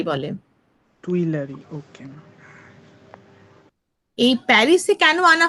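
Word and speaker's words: Tuileries: Ma'am, এর প্রোনাউন্সিয়েশনটা কি আছে? এটা হচ্ছে তুইলেরি বলে। টুইলারি, ওকে।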